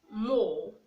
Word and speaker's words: more: We have more, more, M-O-R-E, okay? And when you say more, the E is silent, so the letter R is not pronounced.